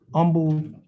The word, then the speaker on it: Humble: Texas versus Humble Jr., Mr. Humble. Okay. You pronounce your last name Humble or Humble? Yeah, humble, H is silent.